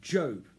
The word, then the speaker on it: Job: What you've got in Job is a righteous man called Job, or it's spelled Job, it's pronounced Job.